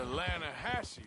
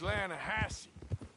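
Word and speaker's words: Lannahechee: trout you mean the atlanta hassie river no no no no no the the lana hatchy it runs right near here yeah but it's pronounced land hassey why is everything in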